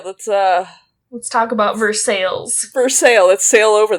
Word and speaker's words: Versailles: i drew the town i called it versailles like the treaty that is not how this town name was pronounced yeah it is definitely pronounced versailles oh locals so i will do my best to continue calling it verse sales and i will